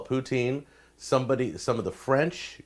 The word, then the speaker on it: poutine: Some people call it poutine. Some of the French call it poutine. There's like an S sound in the middle of it.